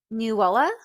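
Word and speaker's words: Nuala: these names so one of them is name newa newa Nela okay and the other one is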